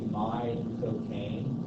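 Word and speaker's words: Michael Caine: actor Michael Kan ality if you say my cocaine like the drug my cocaine that's exactly how he says his accent it's all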